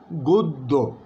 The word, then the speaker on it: গদ্য: একইভাবে বলছি আমরা, লিখছি আমরা গদ্য, কিন্তু বলবো আমরা সঠিক উচ্চারণ হচ্ছে গদ্য।